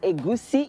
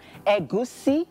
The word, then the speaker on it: egusi: Egusi ijebu. Egusi is fine because of non-Yorubas, but if you want to pronounce the soup the way it is, as a Yoruba person, you have to say egusi.